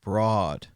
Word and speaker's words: Brood: Brood is pronounced more like broad. Okay, broad. But it's brought in German. So brought and brood.